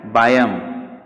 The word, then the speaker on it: biome: इसका प्रोनाउंसिएशन क्या है, बायम।